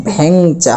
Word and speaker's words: ভ্যাংচা: অর্থাৎ ভ যে রয়েছে এটার উচ্চারণ এরকম ভ্যাংচা হবে।